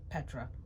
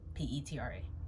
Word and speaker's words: Petra: If you didn't know how to pronounce my name, it's Petra. Petra.